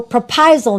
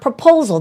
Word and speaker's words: Prapaisilp: So Prapaisilp, not proposal.